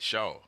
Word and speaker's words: Shaw: Shaw. I'll pray. I want to say it S-H-A-W.